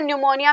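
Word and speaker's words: pneumonia: तो common error आते हैं, कई बार साइलेंट होता है, तो चीजें साइलेंट होते हैं, जैसे न्यूमोनिया में पी साइलेंट है, तो पी साइलेंट है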